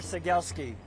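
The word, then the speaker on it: Cegielski: My name is Seagielski. Awesome. And then spell it for me.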